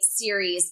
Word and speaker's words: Ceres: So, I say series because it's where we get the word cereal from.